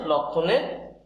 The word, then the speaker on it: লক্ষণ: তাহলে লক্ষণ, এদের লক ক্ষয়কারে খ ন, লক্ষণ, এই হচ্ছে লক্ষণের সঠিক উচ্চারণ, লক্ষণ।